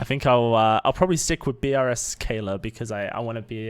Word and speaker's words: brskaylor: Or was there a I think pronunciation I missed? brskaylor. brskaylor. brskaylor.